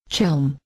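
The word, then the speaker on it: Chełm: They told me, you have to gargle when you say Chelm.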